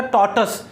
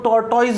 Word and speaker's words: tortoise: Pronunciation ध्यान रखना, टॉर्टस, कई लोग इसको टॉर्टॉइज बोलते हैं, टॉर्टॉइज नहीं होता, टॉर्टस। प्रोनाउंसिएशन क्या होता है, टॉर्टस।